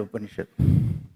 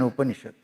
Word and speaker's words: Upanishad: Here, it is upa, ni, and shad.